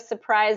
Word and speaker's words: surprise: of all with surprise there's an r in the spelling of surprise that we do not pronounce so it's just surprise surprise surprise okay and it's actually surprise